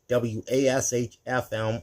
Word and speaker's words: WASH FM: In fifth place is iHeart Radio's Adult Contemporary Station 971 WASH FM or as the locals say Wash FM.